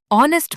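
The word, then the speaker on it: honest: लेकिन आवर और ऑनेस्ट में एच साइलेंट है। आवाज औ की है तो एन लगेगा।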